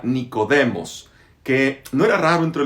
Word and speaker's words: Nicodemos: Nicodemo es un nombre griego, se pronuncia Nicodemos, que no era raro